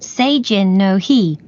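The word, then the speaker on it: seijin no hi: a festival in japan the festival is called seijin no he which is spelled s e i j i n n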